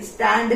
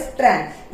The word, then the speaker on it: strand: स्टैंड नहीं, ये होता है स्ट्रैंड।